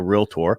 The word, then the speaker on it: realtor: time you got to tell them how to say it right because they always say it wrong they had that extra eye in there anyway all right so let's